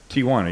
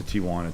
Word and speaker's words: Tijuana: And it's amazing how many San Diego broadcasters say Tijuana. Yeah. I'm like, dude, there's no A.